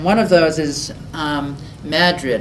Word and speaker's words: Madrid: mining towns and one of those is um Madrid it's spelled just like Madrid in Spain but it's pronounced Madrid and it actually was once a thriving coal